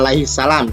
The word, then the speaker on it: alaihissalam: AS itu maksudnya alaihissalam. Jadi kalau ada tulisan Adam alaihi AS berarti bacanya bukan Adam AS lah, bacanya Adam alaihissalam.